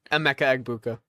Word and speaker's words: Emeka Egbuka: I really like I don't know how to pronounce it. Emeka Egbuka. That's it. Emeka Egbuka.